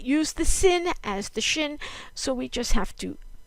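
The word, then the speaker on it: שין: not take a dickish okay shin this is the SH sound and sometimes and this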